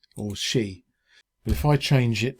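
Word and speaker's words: Xi: character whose name is spelled x i which i believe the chinese pronounce she but that got really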